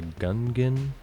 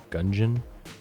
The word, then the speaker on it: Gungeon: Although that friend also pronounces it Enter the Gungeon instead of Gungeon, like dungeon.